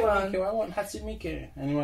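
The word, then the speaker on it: Hatsune Miku: How do you pronounce again, sorry? Hatsumiku.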